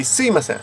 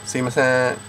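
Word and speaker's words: すいません: sure all over Japan, people don't pronounce the mi. They say Suimasen, Suimasen.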